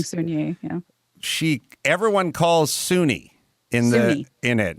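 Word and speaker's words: Soon-Yi: Everyone calls her Soon Yi. I mean, the press does because it's Y-I, but it's Suni is how they say it.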